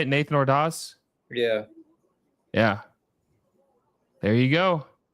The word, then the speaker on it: Ordaz: Nathan Ordaz?